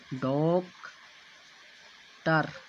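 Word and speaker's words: doctor: ठीक उसी प्रकार ओ शब्द के अंत में ओ के बाद आर है तो यहाँ पर इस वाले ओ को अ पढ़ा जाएगा। तब इस शब्द का संपूर्ण उच्चारण होगा डॉक्टर, अर्थात टो में ओ स्पष्ट रूप से दिख रहा है।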